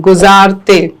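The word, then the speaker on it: गुज़ारते: जिंदगी अच्छा और अगला जो लज है वहां भी जे है जड की आवाज है गुजारते ठीक बिल्कुल तो अब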